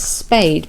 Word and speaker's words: spade: Now we know that's spade because it rhymes with the last word, which is made. We know made, so we can work out this is pronounced spade.